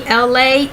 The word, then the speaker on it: Elay: It's me, Elay, E-L-A-Y, pronounced like the city.